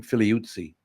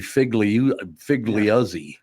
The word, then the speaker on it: Figliuzzi: And I wonder, that's how you would pronounce the name, Figliuzzi.